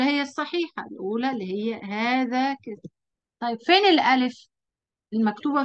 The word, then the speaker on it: هذا: لا، لأن ده قاعدة بتقول إن دي حروف حرف الألف في أسماء الإشارة. هذا وهذه وهذان وهؤلاء حروف تنطق ولا تكتب.